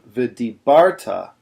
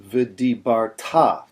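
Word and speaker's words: וְדִבַּרְתָּ: The temptation on a word like this is to put the emphasis on v'dibarta, which is what a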